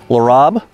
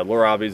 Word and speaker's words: Lorob: like is it laurab Lor Rob yeah I mean so so it's a blend of my mom and I's name Lor and Rob so uh so yeah lur robes is is how i'